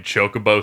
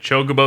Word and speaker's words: Chocobo: It's how I learned that Chocobo is pronounced Chocobo.